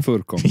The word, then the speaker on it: Van Woerkom: How do you say your last name? Van Woerkom. Yes. That's it perfect.